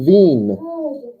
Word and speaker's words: Wien: of that town before capital of austria vienna vienna but in german it's just veen so here's what it